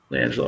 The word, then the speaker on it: LiAngelo: And it's just one of those things to, you got the spotlight on you, especially LiAngelo. Am I pronouncing his name right? Yeah, you got it. LiAngelo, okay.